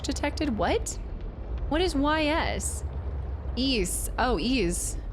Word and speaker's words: Ys: Ease. Oh, Ease. It's a series of action RPGs on the PSP, but it's it's spelled YS, but it's pronounced ease.